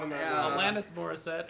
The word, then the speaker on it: Alanis Morissette: Tom Cruise, Alana Morissette. This person Alana has a Morissette mummy. is not in that Yeah. movie. Alanis Morissette is her Um, name. If you're gonna say it right.